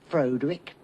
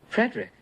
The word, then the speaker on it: Frederick: Frankenstein Frankenstein you're putting me on no it's pronounced Frankenstein do you also say Froude Rick no Frederick why isn't it frode